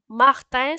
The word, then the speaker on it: Martin: And then Martin. So yeah, like in French, we don't pronounce it like in English, like Mar. We say Mar. So Martin. So I-N. So yeah, Martin. So A-N, it became I-N.